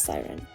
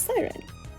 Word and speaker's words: SYRN: CERN is pronounced as Siren or sorry, S Y R N is pronounced as Siren.